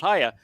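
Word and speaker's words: היה: And it's pronounced Haya. No one disagrees that it's pronounced Haya.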